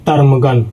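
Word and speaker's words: ptarmigan: तो यहां पर दोस्तों पी को हम लोग साइलेंट करके पढ़ेंगे इसको पढ़ते वक्त तो इसको पढ़ेंगे दोस्तों टर्मगन।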